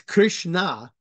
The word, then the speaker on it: Krishna: said um but also remember it's Krishna it's not Christ there's no tea on that uh chrishna hasn't um after the there it's it's k r i s h n a as opposed to c h r i St right